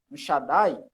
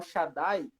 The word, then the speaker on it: Shaddai: Porque tem essa duplicação, só que na hora da pronúncia não é para separar. Isso acontece na divisão silábica. Isso. Na hora da pronúncia, ela dá literalmente, duplica. Igual, Shaddai.